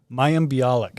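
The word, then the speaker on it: Mayim Bialik: how do you say her name again mayam mayam bialik bialik so she's on a sitcom called uh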